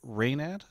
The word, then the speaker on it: reynad: Okay, so is it reynad? It Is is that reynad, yep, that's how it's pronounced.